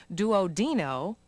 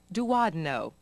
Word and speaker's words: duodenum: pain in the pharynx the next element is commonly pronounced two different ways do OD know and do odd no in either case it